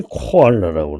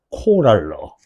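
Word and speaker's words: koala: 그 다음에 여러분들이 코알라라고 그러죠, 그죠? 코알라. 일종의 곰 아니야, 이거? 코알라. 코랄러. 발음이 틀려, 여러분하고, 얘하고. 코랄로야.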